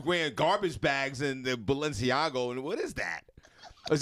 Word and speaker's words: Balenciaga: to watch too much of that uh Valencia balenciago am I pronouncing yeah Balenciaga yeah first of all I've never even heard